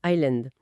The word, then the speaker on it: island: On dit donc, c'est le même principe pour Island. Le s intru. C'est fou le savoir, ça change tout, ça donne un sens.